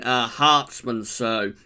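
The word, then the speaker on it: Herstmonceux: The maximum temperature this month is 26.4 degrees in Hartsmansow. That's how you pronounce it, in East Sussex, and also 27.2 at Heathrow on the 29th.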